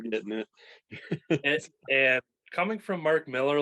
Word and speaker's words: Mark Millar: It's Mark Miller, even though it's spelled like Millar, but it's Miller. Okay, because I always think Frank Miller, and then I've been calling him Millar all this time, and